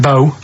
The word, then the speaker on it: BO: It's not pronounced bow and it's not spout bow. Um, who calls it bow? Everyone knows it's b.